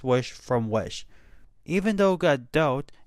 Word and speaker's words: Gadot: Even though Gadot, and yes, that is actually how you pronounce her last name, which I learned just